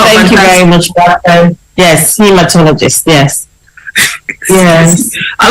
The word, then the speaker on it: hematologist: will be talking about the role of the homotologist in looking after cancer patients did I pronounce that word properly because I am very passionate about did I choose did I get it hematologist right he is hematologist hematologist yes well thank you very much yes